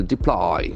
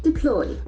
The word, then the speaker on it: deploy: an effective way deploy the accent falls from the second syllable deploy deploy build can be used